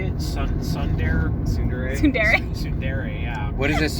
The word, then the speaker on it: tsundere: Tsundere, Tsundere. yeah. What is this tsundere? You looked it up, Freddie. You should know. It means Or more that- correctly pronounced tsundere.